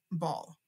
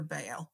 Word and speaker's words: Baal: Jewish people kept worshiping Baal or Baal, whatever name you want to give it. Both pronunciations are fine. I'm just going to say Baal.